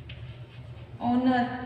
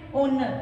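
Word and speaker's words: honour: इसी तरीके से जैसे कि वो स्पेलिंग एच से भी स्टार्ट होती है, ओनर, इसको क्या रीड करते हैं, ओनर।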